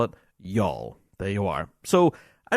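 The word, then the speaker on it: Youghal: may be and yes I will no longer pronounce it as the yogul pipe band I will now call it y'all there you are so I don't know though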